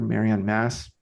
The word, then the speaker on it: Marion Mass: Marian Mass. Am I pronouncing that right? I I just I Yes. Yeah. Just like Catholic Church.